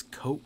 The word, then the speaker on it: Koch: coke i'm going to pronounce it it's koch but i don't think it's i think it's coke like koch brothers even though it has